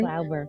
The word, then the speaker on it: Glauber: And today's dedication is to Glauber. Did I say her name correctly? Glauber.